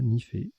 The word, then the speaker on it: nife: On a joué Nife, N-I-F-E. Vous aurez la définition tout à l'heure, ça se prononce bien comme ça, Nifé.